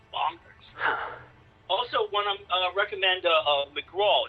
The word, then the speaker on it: McGrath: Also, one I recommend McGraw. It's spelled McGrath, but it's McGraw who wrote the book Asylum, which is fantastic.